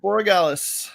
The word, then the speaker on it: Borregales: Andreas Borregales.